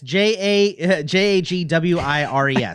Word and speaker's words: Jaguars: Yeah, it's Jagwires. That's how it's pronounced.